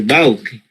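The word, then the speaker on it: Paucke: No, se escribe Pauque, pero allá en austríaco le dicen padre Bauque.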